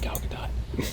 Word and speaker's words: Gal Gadot: when the Wonder Woman appeared on screen uh Gal Gadot which is how you pronounce it Gal Gadot I remember the thing yeah four different Spider-Mans